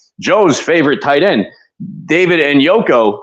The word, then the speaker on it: Njoku: favorite tight end, David Njoku, who is actual David Njoku, but Joe can't pronounce anybody's name correctly, as we've seen.